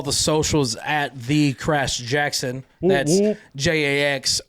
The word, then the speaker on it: Jaxon: a s in it it's Jackson not I it sounds like Jackson when I say it